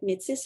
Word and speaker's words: Métis: Les Métis, on lit avec Métis, là, mais de la manière qu'on le prononce, c'est Métis, qui est une nation reconnue plus dans l'ouest du Canada.